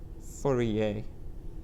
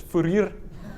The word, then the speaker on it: Fourier: Furier. Okay. But the proper African pronunciation is furer.